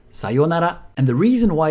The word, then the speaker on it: sayonara: But my point is, if you do use it, try not to pronounce it the American way. You might be used to sayonara, but it's sayonara.